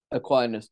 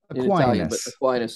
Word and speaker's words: Aquinas: kindness or kindness actually how do you say is it a kindness or do you say Aquinas Aquinas Thomas Aquinas it's an Italian he's from a place called Aquino that's right Aquinas in English yeah say it with